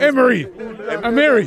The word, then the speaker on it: Emery: Emery. Emery. That's how they pronounce it in Spain.